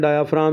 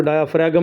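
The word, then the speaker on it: diaphragm: तो पढ़ते हैं डायाफ्राम, इसको डायाफ्रैगम नहीं पढ़ना है, इसमें जी साइलेंट है।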